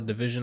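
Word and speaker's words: dvsn: I just saw a division on there I think I said pronounces DV s n its division I've heard some of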